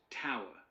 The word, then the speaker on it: tour: The word is to, but it's pronounced tower.